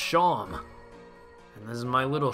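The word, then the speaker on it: Seam: tell rhymes hello Sean the name Sean pronounced Sean and this is my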